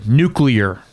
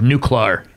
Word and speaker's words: nuclear: in eight years figured I had to say the word new klar right you know nuclear but he always said like new klar new killer yes he's missing like two syllables in the middle but for eight years